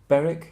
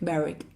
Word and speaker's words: Berwick: man Lester Lester Berek Berek yeah you often don't say all of the letters yeah probably because these